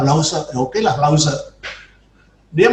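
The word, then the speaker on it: Lao Tzu: Tulisannya Lausu, tapi saya tanya, ini bacanya Pak Lause.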